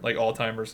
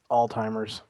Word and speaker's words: Alzheimer's: There's no T in that word at all. Whatever. I'm not a fucking doctor. Right. Alzheimer's.